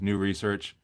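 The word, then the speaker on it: Nous Research: don't know I I the way I pronounced it is new research I mean so this was somebody in that team and he wasn't even really sure how to pronounce it uh but he said I pronounce it new SE Arch and uh Hermes is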